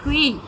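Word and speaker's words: queue: The only word in English language that is still pronounced in the same way when the last four letters are removed. Q-U-E-U-E, Quee.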